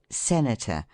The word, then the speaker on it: senator: Trisyllables ending in ator have the accent placed on the middle syllable, as spectator, narrator, etc., except orator, senator, and a few other words.